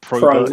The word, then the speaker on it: Probert: So Probert. Not Robert with a P. Not right, although that is the easiest way of getting people to spell it correctly. It's Robert with a P in front.